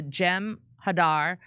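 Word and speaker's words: Jem'Hadar: If you want to know what the trans movement is about, just look up the Gem Hadar, pronounced with short A's.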